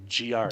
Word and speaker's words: Giard: I did a correct your pronunciation. It's Giard.